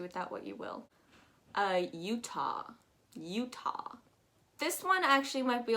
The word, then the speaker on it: Utah: You've got U, literally just the letter U, ta.